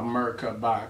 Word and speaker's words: Merkaba: You can even pronounce Merkaba is in macabre, but I go by Merkaba because I want to break it down for the syllables.